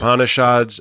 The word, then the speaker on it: Upanishads: Upanishads, is that how you say it? Yes. The Yes. Upanishads, I picked up the Tao of Pooh because